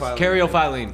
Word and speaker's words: caryophyllene: It's a bunch of syllables cariophyline. Cariophyline. Oh, that's Caryophyllene.